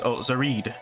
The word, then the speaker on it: Zared: All right, so Zared or Zahed. So Celestial Reflection is the latest record from Zared, pronounced Zared.